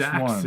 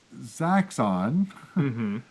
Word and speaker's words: Zaxxon: It's like a Saxon. Zaxxon. All right, let's do this. Okay, so this is weird Okay. because this is Zaxxon, but it's not isometric or it's not 3/4 view or whatever.